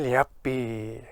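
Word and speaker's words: leabaidh: There's a strange sound at the beginning. There's a Y sound. Liapi. There's no Y, but it's between the L and the E.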